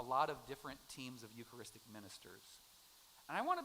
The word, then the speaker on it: Eucharistic: I think it's because we use the Eucharistic, 4 syllables, that's a big word.